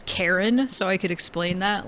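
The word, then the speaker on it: Charon: the head game Hades I thought it was char it's not it's not pronounced like that it's pronounced like Kon or Caron um and I'm pretty sure how do you pronounce it let me look it up cuz I remember him from Hades hang on K Kon pronunciation if I'm wrong I'm going be upset uh how do you say this Karen it it's actually legitimately it's actually pronounced Karen wow ain't no [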